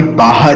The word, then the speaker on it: Baja: इसका जो प्रोनाउंसिएशन है वो बाहा ही है, मगर इसको लिखते हैं बाजा है।